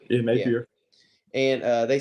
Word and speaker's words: Napier: That's how you pronounce his last name. Napier, yeah, Yeah. Napier.